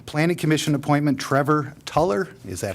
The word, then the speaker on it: Tuller: Item number 7, A, Planning Commission appointment, Trevor Tuller. Is that how we pronounce that?